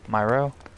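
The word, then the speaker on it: Mi Ro: I'm sorry, I butchered Nero? your name. My bad. Is it N-E-R-O? M-I space capital R-O. M-I-R-O? Myro?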